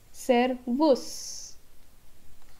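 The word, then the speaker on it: Servus: or in the other german-speaking countries are service sir worse yeah this is sir worse which is hello and this word is speaker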